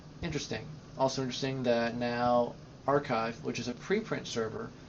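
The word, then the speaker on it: arXiv: had right uh and archive is actually spell no one would ever think it's that's how you pronounce it uh but any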